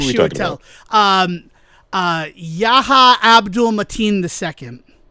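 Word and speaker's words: Yahya Abdul-Mateen II: Shitell or Joliver? No, not Shell. Um uh Yaha Abdul Matin II.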